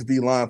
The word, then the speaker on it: V-Line: long wednesday so uh a little v-line it's spelled like villain but it's v-line for you scoundrels out there in